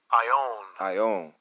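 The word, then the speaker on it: αἰών: That word world is eon. All right, I'm going to pronounce it. Strong's G 165. Ion.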